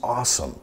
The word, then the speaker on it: awesome: Si es un jugador de fútbol, he's awesome. Quiere decir él es increíble jugando fútbol, ¿no? Awesome. Awesome. Enfatizando la primera sílaba, awesome.